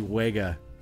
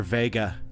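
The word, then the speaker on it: Wega: says what what is the Sony waga or Vega is actually how you pronounce it it's uh so I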